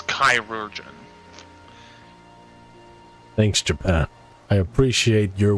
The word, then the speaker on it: chirurgeon: So, according to Merriam-Webster, I believe it's pronounced like surgeon, but the chai is pronounced kai, so chirurgeon. Yeah, according to Merriam-Webster, it's chirurgeon.